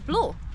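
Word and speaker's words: BLOO: Yeah, his name is Blue.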